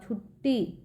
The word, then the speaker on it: छुट्टी: बच्चों आकांशा आकांक्षा पक्का छुट्टी य पर ट पे एक ट और लगाओ छुट्टी ठीक है छुट्टी य देखिए रास्ता